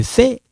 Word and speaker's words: fais: So when you see the AI like this in French, the pronunciation is like this. Like that. It's like eh. When you, in case if you write like you write like this for the pronunciation, I understand. If you write like this, it sounds like I understand. Okay? So one more time. Je fais. I'm not saying je vais.